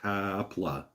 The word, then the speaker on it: Kapla: By the way, it's pronounced Kapla, with the emphasis on the pla.